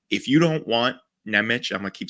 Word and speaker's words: Nemec: Like, if you don't want Nemec, I'm gonna keep saying his name wrong, so just whatever.